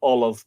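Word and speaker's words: ollamh: I would be tending to say olive to pronounce it as close to the Irish as I possibly can.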